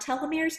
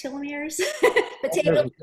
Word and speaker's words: telomeres: us what are telomeres i've been pronouncing it wrong not telomeres telomeres are both correct okay good okay good